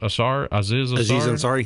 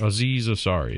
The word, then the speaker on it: Aziz Ansari: Aziz Ansari. Aziz Ansari.